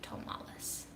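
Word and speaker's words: Tomales: No, it's spelled T-O-M, not T-A-M. So, Tomalis.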